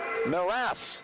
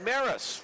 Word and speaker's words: Maras: minnes AA Home of Tristan Maris maras not Maris rooting for the reverse